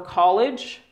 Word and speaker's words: college: You can wait to go to the university or college, which is about the same thing, or you can go right away. Donc vous trompez pas. College, déjà le l'accent tonique sur la première partie, mais ça c'est pas le collège.